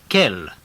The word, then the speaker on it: quel: word to use is kel q u e l kell it's spelt q u e l in the masculine and the feminine ends in double le but they're pronounced exactly the same listen to these examples